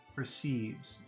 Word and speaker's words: perceives: Two sounds, two vowel sounds. Are they long or short? perceive. First one is short, per. Second one is very long, sieves, perceives. But the mind perceives. Try to say it like that. Short, short, long, short, long. But the mind perceives.